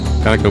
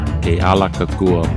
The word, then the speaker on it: Kealakekua: Calico Bay. Kealakekua Bay.